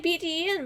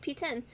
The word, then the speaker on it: PTEN: okay so that's the piece I've been saying PT an but apparently it's pronounced p10 which is way easier okay see what I'll